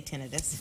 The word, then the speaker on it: tinnitus: Robin writes, I developed tinnitus. Is that how you say it? I say tinnitus.